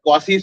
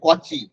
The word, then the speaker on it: Cauchy: এটা হচ্ছে ওই কসির সূত্র লেখা ছিল, অ্যাকচুয়ালি উচ্চারণটা হচ্ছে কচি, উচ্চারণটা হচ্ছে কচি, আবার লোকজন আবার কচি লিখলে কচি কচি করতে থাকে, কচি নয়, উচ্চারণটা হচ্ছে কচি।